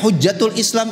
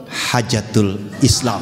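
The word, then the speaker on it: حجة الإسلام: Baca hujjatul Islam itu hajatul Islam, hajatul.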